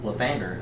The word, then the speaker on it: Lathander: Lathander. Lathander. Okay. I was Lathander. double checking that I pronounced it Alexander.